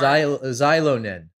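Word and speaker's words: Xilonen: X-I maybe. Is Z, right? Ish. Yeah. Zilo. Anyhow, they're fantastic. Zilonin?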